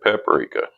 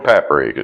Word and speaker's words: paprika: And we're going to go a little bit of paprika. Or paprika, it just depends on where you're from and how you say it.